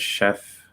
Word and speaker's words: chef: in any way um the word chef is an exception in pronunciation using the sh instead of the tch okay be careful okay